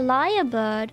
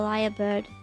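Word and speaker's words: lyrebird: better photo of the liar bird it's not it's not um actually spelled like l i a r it's spelled l y r e and um these guys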